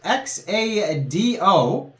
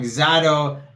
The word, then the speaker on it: Xado: But the name of the project is Xado, I guess you would pronounce it.